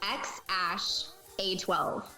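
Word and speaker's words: X Æ A-12: Okay, I'll pronounce it for you. It's XAsh-A12.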